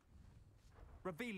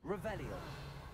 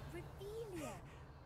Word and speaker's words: Revelio: Revelius. You're saying it wrong. Revelio. Revelio.